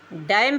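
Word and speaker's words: damn: डैम पढ़ेंगे।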